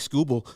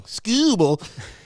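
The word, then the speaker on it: Skubal: to him facing tirique scuba to start sorry i said it wrong scooble to start the game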